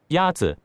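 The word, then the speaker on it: 鸭子: Yazi is pronounced with a first tone. In Mandarin, there are 4 tones, which are essential to distinguish the meaning of words. The first tone is a high, level tone.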